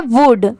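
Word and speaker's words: would: अब यहां पर आप सोचेंगे कि एल लगा है तो इसे वुड क्यों नहीं पढ़ेंगे? तो नहीं यहां पर एल लेटर साइलेंट है। सिर्फ डब्ल्यू ओ यू डी की यहां पर साउंड आ रही है इसलिए इसको वुड पढ़ेंगे।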